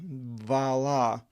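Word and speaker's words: Βαλλά: Verse 3, Ipe they Rachel to Yaakov, and Rachel said to Jacob, Idhu, Ipaithiski mu vala, behold, my maidservant Bilhah, vala in the Greek, it's pronounced.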